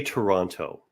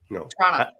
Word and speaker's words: Toronto: And of course, I never say Toronto. No. Trana. Trana. 2 syllables.